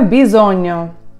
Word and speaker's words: bisogno: Gn читається в італійській мові як ñ. Тому вимовляється bisogno.